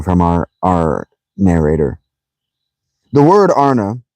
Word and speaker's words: An: The word Arna, pronounced broadly Arna, corresponds with our plural men. On, pronounced Arn, the singular with man.